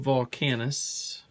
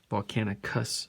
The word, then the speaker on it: Volcanicus: predicing boom that's nice got two of volcanus volcanicus sorry I say it wrong all the time I catch